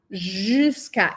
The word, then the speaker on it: jusqu'à: Y ojo con la pronunciación, la u aquí no se dice y la j no suena como una i ni como una j del español. Tenemos que decir jusca. Es un sonido que no existe en español, pero que aparece mucho en francés.